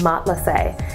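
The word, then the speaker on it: matelassé: quick unboxing Gucci marma Mott let's say line of handbags I just learned that's how you say it Mott let's say and what website means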